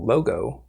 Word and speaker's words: Logo: it um so they had a program called logo it's spelled l-o-g-o and it's sometimes referred to as